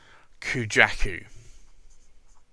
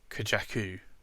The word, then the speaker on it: Kujaku: here is Pilot Iroshizuku, and it's Kujaku, or Kujaku, depending on how you want to pronounce it. I think Kujaku is probably the correct pronunciation.